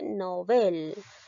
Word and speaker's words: Nobel: mi pronunciación que dice novel novel donde lleva la mayor fuerza de voz en la sílaba del nobel por lo tanto esta palabra llega a ser una palabra aguda porque